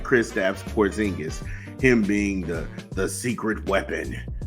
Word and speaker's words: Porzingis: If Kristaps Porzingis, the alleged, grape with a silent G, is the alleged sexual